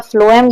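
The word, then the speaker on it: phloem: मैंने याद करा था फ्लोएम, ये इसकी प्रोनाउंसिएशन फ्लोएम होती है, और फ से फ्लोएम और फ से फूड, तो फूड जो कौन ट्रांसफर करता है, फ्लोएम।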